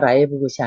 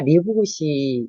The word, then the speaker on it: 리브굿: 거고요 그 후에 들어보니까 라이브 굿이 아니라 리브 굿이 맞는 발음이라고 하는데 이게 발음상의 문제인 거